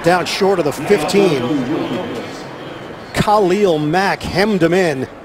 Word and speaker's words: Khalil: And he prefers his name to be pronounced Khalil, and I'm really not going to question it.